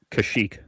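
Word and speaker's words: Kashyyyk: Kashik.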